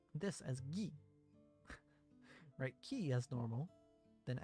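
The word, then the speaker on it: ぎ: You pronounce this as Gi.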